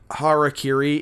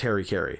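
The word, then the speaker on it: 腹切り: decide or realize that harakiri is not pronounced Harry Kerry because they because they definitely called it hairy they did this movie they did uh 2012.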